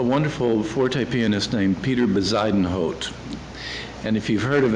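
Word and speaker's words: Bezuidenhout: spoke to a wonderful Forte pianist named Peter besidenhot and if you've heard of him that's how you pronounce his last name nobody knows how to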